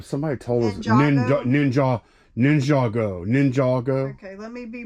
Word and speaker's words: Ninjago: let's pull some orders uh three Alpha Lego ninjo n wait I'm saying it wrong what is it uh somebody told us nin ninj Ninjago Ninjago okay let me be proper no I